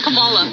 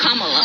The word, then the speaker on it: Kamala: We work with her, so we know how to say her name. Earlier you said Kamala. The way she pronounces her name is Kamala.